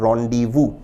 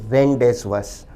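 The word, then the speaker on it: rendezvous: पर विशेष ध्यान दें शब्द का उच्चारण है रोंडी वू ना कि रेंज वस उच्चारण है रनडी वू रोंडी वू का अर्थ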